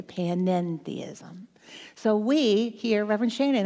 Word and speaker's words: panentheism: That's what that little extra syllable means, the end, the panentheism.